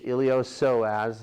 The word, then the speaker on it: iliopsoas: are your iliopsoas muscles you don't pronounce the P it's iliopsoas I pronounced it they